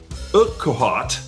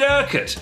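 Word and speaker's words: Urquhart: in february third 1940 george o'hart i think outside quote is it erket there you go on february 3rd 1940 george erket and his dad john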